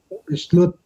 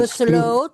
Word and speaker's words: besloot: Toen de rovers Vertrokken, besloot Alibaba de besloot, bukan besloot. O-nya mulut tadi panjangkan.